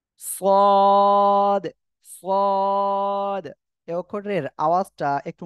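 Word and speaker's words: ص: দেখেন, এই যে সদ, এ অক্ষরে কিন্তু অনেকে অনেক ভাবে বলে, সদ বলে কেউ, কেউ বলে সাদ, অনেক রকম উচ্চারণ করে। এর সঠিক উচ্চারণ হবে কি, যে এ অক্ষরটা একটু মোটা আওয়াজ হবে, সদ।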